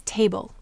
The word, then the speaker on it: table: So the first word we'll look at is table. Table. Here the A is saying its long sound and it's at the end of the syllable.